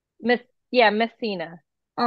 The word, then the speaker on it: Messina: that one more time my name is missina like mess me course I I knew I